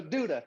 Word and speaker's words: Douda: So I go like Camptown Lady sings their song. Oh, Douda. Duda, Douda. Duda. Right. So Duda, yeah.